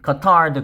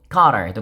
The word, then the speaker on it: Qatar: The Peninsula Qatar's, 물론 카타르의 발음은 Qatar도 괜찮고 카타르도 괜찮습니다. 오늘 저는 두 번째 음절에 힘을 넣겠습니다.